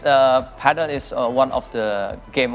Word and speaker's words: padel: It's Padel. Paddle. Okay, so first of all, Coach, can you elaborate what this new? For me, it's new sports. What is it? What is it? Yeah, it's Padel is one of the game of sport in